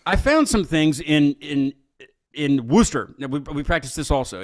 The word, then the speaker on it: Worcester: But I found some things in Worcester. We practice this also. It's not spelled like Worcester, but that's how they say it. I want to fit in, so I mean, you're almost there. Worcester, yeah.